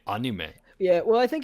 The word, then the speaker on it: anime: manga I know that properly you're supposed to say anima not anime and I can't bring myself to say on you may yeah well I think